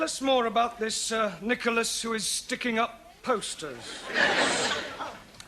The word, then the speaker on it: Nicholas: Upon of times there was a man called nickel ass it's not quite right no no once upon a time there was a woman called nickel us it's pronounced Nicholas all right once upon a times there was